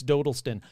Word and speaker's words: Dodleston: This one starts way, way back in 1985 in Dodleston, England. And if someone says you're pronouncing Dodleston wrong, it's Dodleston.